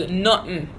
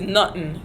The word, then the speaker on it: Nutten: And then the word nothing, how you say nothing is Nutten. Nothing is Nutten.